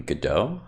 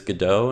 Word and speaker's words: Godot: going to be introducing godot which is the game engine that we'll be using to create games this semester the pronunciation i'm pretty sure is godot not go dot but either way i